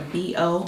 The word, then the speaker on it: BIYO: That is pronounced a B-O.